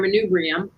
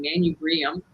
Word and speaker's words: manubrium: coming up is your manubrium which i realized that i learned i was always pronouncing this wrong i was saying man you brilliant makes sense with a